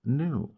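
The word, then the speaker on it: nu: Lambda new this is the Greek letter new pronounced new um the speed of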